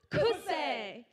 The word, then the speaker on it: Kosei: On a side note, we're actually pronounced as Kosei. which in Taiwanese means empowering attitude towards life, and this is our business model.